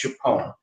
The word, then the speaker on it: Tchepone: Directly west of Khe Sanh, in Laos, there's a town called Chapone. And it's spelled either Xepon or Tchepone, depending on whose spelling it is.